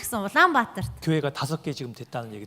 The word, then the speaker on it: Улаанбаатар: 울란바토르 어떻게 발음합니까? Улаанбаатар. 울란바토르 발음 틀렸죠? 맞는데요.